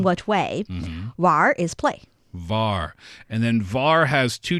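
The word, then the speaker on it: 玩: War. And then war has two different possible pronunciations, right?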